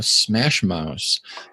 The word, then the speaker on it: SMASHmouse: have been like, okay, SMASHmouse. Like, it's kind of a tongue twister with the two S's.